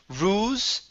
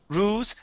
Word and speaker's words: rules: is the word rules make sure to pronounce an l instead of saying ruse rules it's rules rules there you go